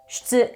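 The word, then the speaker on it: 出: The onyomi for this kanji is shutsu, and it is difficult to pronounce.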